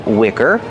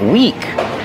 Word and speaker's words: wick: candle has a wick pronunciation Wick use the short is sound like this is this is the wick of the candle I I Wick not weak with a long e like green beans I don't feel good